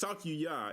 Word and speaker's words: Sakuya: say her name sakya it's not raw it's sakuya it's like y a